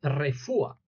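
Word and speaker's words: רפואה: doctor el sanador decimos refua que igual contiene la consonante p en su forma sin punto que se suena como F vale refua significa medicina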